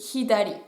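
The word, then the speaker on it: ひだり: Pourquoi pas, mais faites juste bien attention à prononcer le h de hidari, c'est important.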